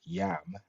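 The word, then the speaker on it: iam: The common Latin word yam now, which means now, is pronounced yam, I-A-M, which means now.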